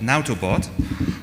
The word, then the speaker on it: Nautobot: developer, and there's another fork of Netbox called Nautobot.